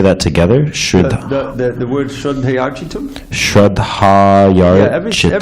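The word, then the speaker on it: श्रद्धयार्चितुम्: Shraddhayarchitam. Every syllable, it's Shraddhayarchitam.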